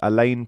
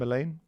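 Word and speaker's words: Aleyne: Um, I like the look of this Elaine player. Ali, is that how you say his name? Elaine. Yeah. A l e y.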